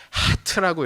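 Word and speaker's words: חית: 이걸 뭐라고 읽냐면 하트라고 읽어요. 하트. 우리말의 히읗과 비슷한데 정확히 히읗은 아니고 하를 발음입니다. 목구멍을 긁는 소리를 내야 돼. 이 공기가 입 천장, 목구멍과 입 천장 쪽을 긁으면서 나와야 되는 소리입니다.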